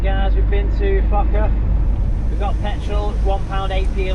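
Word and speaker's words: Foča: We're off to a little town called Foca, which might be pronounced Focha and not how we all want to say it.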